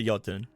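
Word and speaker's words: jötunn: The J is pronounced with a Y. Well, she might not know that. You don't know. Maybe she's insensitive. Maybe she's raised. It is. It is. It is a yotun.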